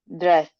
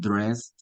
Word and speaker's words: dressed: I pronounce it dressed like a D. Some Mhm. people pronounce it dressed. Okay. You can use any. Puedes utilizar cualquiera. Dressed like a D or dressed.